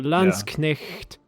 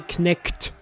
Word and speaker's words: Landsknecht: And- But it's certainly not a Knekt sound. I think if you're having trouble with all of these, you can always pronounce the CH as SH. So Landsknecht. It's like you sound kind of weird, but it's much closer to the original than if you say Knekt.